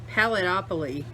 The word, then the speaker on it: Paletteopoly: there's the pellet how do you say this palatopoly huh palette palette palletopoly there you go anyway a whole Fistful of